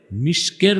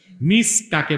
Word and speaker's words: মিস্ক: এটা একটু ব্যাখ্যা নেন মিস কাকে বলে মৃগনাভি মিস কি মিস্ক মিস্ক যেটার আপনারা বাংলায় ভুল উচ্চারণ করেন মেশক বলেন মেশক মিস্ক উচ্চারণটা কি বুখারী শরীফে এসেছে রাসূল